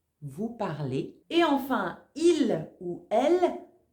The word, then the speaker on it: parlez: En français, le son EZ, ça fait toujours et. Vous parlez.